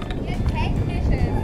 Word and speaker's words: Technisches: Technisches. Oh my God, come on, tell it to me. Technisches Museum. Technisches Museum. What is not written over there? It's technisches.